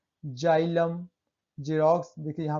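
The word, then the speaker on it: xylem: Rule 4 है, जब किसी शब्द के शुरू में एक्स हो और उसके बाद ए ई आई वाई आए तो एक्स का उच्चारण ज से करते हैं। जैसे जेंथिक, देखिए एक्स है और ए ई वाई आए उसके बाद एक्स के बाद, तब क्या पढ़ें, उसे ज से पढ़ते हैं। जेंथिक, जाइलम, जेरोक्स, देखिए यहाँ पे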